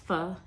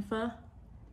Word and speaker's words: pho: If you're not familiar, pho is a Vietnamese noodle dish soup situation, and it is pronounced pho, not pho.